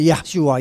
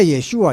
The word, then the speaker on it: Yeshua: Kau dengar lagu-lagu orang Ibrani, nggak ada yang panggil Yahshua, Yahshua. Semuanya Yeshua, Yeshua.